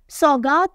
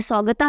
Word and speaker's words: सौगात: ministry of defence के सौगात गुप्ता ये सगता नहीं है इंग्लिश में लिखते हैं तो इधर-उधर हो जाती है ना स्पेलिंग से प्रोनंसिएशन कई बार नहीं समझ में आता ये है सौगात गुप्ता तो सौगात गुप्ता इज